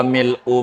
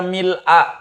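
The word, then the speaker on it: ملء: Ibu boleh baca mil'a, boleh baca. Barangkali ibunya bacanya mil'a. Mil apa mil'u biasanya? Oh mil'u, baik nggak apa-apa. Iya mil'us. Iya mil'u begitu. Boleh mil'u, boleh mil'a. Artinya kalau ada yang ngajarin mil'a, jangan disalahin.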